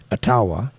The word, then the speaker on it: Ottawa: my grandma was half Ottawa Indian or atawa Indian if you say it properly atawa and my mom is